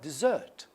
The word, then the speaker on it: dessert: We have dessert. If we have double S here, it is dessert.